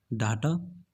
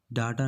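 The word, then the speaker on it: data: डाटा? इफ yes then it is wrong, because इसको डाटा नहीं डेटा बोलते हैं।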